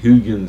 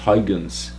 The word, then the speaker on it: Huygens: and physicist um some sometimes it's pronounced hugens sometimes huggins doesn't really matter um what matter is